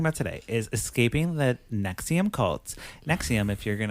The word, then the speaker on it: NXIVM: So, the movie we're talking about today is Escaping the Nexium Cults. Nexium, if you're going to like search for this at home, it's spelled NX I VM, all caps.